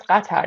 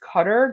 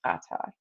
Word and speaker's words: Qatar: How do you pronounce katar? It's It's literally pronounced kata. Oh my gosh. If you think it's pronounced cutter, then like oh that's awkward.